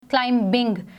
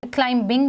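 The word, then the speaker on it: climbing: जो first example है इसमें मैंने बी का कलर डिफरेंट किया है क्योंकि ये एक साइलेंट लेटर है ठीक है इसको हम पे नोस नहीं करेंगे वे would note pronounce this eight क्लाइंबिंग इसको हम क्लीम बिग नहीं कहेंगे हम इसको क्लाइंबिंग कहेंगे ओके नेक्स्ट वे हैव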